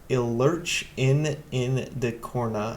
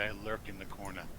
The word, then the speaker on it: I Lurk in the Corner: my sister, Javier Guerriere, Ilurch in the Corna, I finally pronounced that right, the Cobalt Queen, Peter Lente, and Paul Shue. Actually, he told me one day it's actually I lurk in the corner.